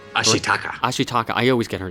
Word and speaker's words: Ashitaka: a story of a young iishi Warrior named ashaka ashitaka ashitaka I always get her name wrong uh his name wrong and in his